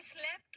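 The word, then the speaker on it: slept: studying very good बहुत बढ़िया बहुत अच्छे ही स्लेप्ट वाइल स्टडिंग अच्छा स्लेप की स्पेलिंग क्या है आप सबने सही लिखा है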